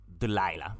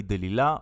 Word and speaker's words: Delilah: yeah and everybody knows delilah the lilac yeah in hebrew we say de lilla or de lila but it's only the pronunciation when you read it and when you say